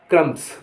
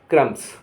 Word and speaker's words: crumbs: CRUMBS, इसको कहते हैं क्रम्स, क्रम्स, बी नहीं कहेंगे यहाँ। CRUMBS, यहाँ बी साइलेंट होता है, कहेंगे क्रम्स।